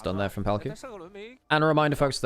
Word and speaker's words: Palkia: But yes, Palkia, for like licensing reasons, isn't called Palkia, but that's his name, folks. He's just spelt it out in the katakana, effectively, like Japanese pronunciation.